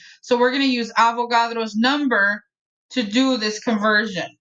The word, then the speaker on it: Avogadro: number is that guys kind of rhymes with avocado do you remember his name avogadro right avogadro's number avogadro's